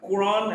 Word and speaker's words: Quran: There are exceptions. Quran and Quranic, quote in these words, QU is pronounced as Q.